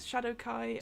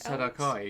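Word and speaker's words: Shadar-kai: Light, as I think you how did you pronounce it? Shadowkai. Shadowkai, yeah, because they're Shadowkai elves, yeah.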